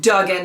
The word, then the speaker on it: Duggan: came through so Duggan not Dugan I kept saying Duke